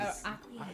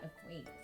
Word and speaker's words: acquiesce: Quiz, but Acquiesce. Ain't that a car? No. no, accept something reluctantly, but without protest. That's what we always call it, a quiz.